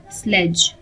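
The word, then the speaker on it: sledge: इस वर्ड में D silent होगा, स्लेज। अगला वर्ड है जब बॉलर का पांव लाइन क्रॉस करता है तो उसे कहते हैं नो बॉल।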